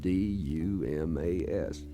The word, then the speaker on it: Dumas: I read the sign as I came in town and said D-U-M-A-S. I didn't know it was pronounced Dumas.